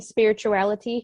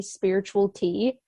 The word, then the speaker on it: SpiritualiTEA: my Tick Tock bio pronounced like spirituality because so many people were calling me spiritual tea so thank you for